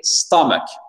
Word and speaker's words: stomach: Attention, et stomach. Stomach, accent tonique sur la première syllabe.